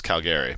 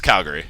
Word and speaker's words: Calgary: And, like, it's Calgary. It's the Uri, not the Airy.